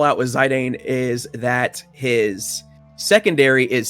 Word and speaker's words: Zidane: It's supposed to be Zidane, I do believe, but I say Zidane. I just like it more, and that's how I always said it.